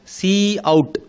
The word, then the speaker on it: cout: So the first operand is the predefined identifier pronounced as Cout, that identifies monitor as the standard output object.